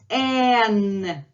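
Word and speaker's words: н: Then we have N. And the most confusion comes with this letter because it's written like H in most cases, especially capital one, but you pronounce it as N.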